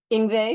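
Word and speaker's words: Yngwie: Ingve.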